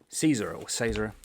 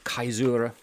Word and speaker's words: caesura: Caesar or Caesura, depending on how you want to pronounce it, it's a Latin word.